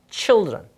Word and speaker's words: children: C-H-I-L-D child에서 발음이 child가 아니라 치로 바뀌어요. children. 뒤에 R-E-N을 써줍니다. 그리고 발음은 다시 한번 뭐라고요? children. 따라 읽어보세요. children.